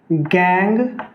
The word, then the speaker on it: gangue: These unwanted अर्थी and siliceous impurity associated with ore, associated with ore are called gang, GANGUE, gang और matrix.